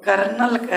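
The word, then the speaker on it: colonel: में अब लोग सुने होंगे कि बताओ तो कर नलखेड़ा स्पेलिंग क्या होगा आप लोगों तुरंत बता दीजिएगा सी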